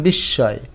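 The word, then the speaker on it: বিস্ময়: তাহলে তালব্যস দিতে হয় এটার উচ্চারণ বিশয় এইযে দেখো আদ্য মফলা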